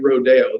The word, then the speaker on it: Rodeo: yeah no i'm not i'm not going to say it rodeo this is america we're going to use the american pronunciation beverly hills luxury retail